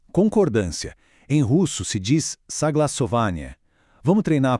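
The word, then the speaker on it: согласование: Em russo se diz saglassovanie. Vamos treinar a pronúncia juntos devagar. Soglassovanie.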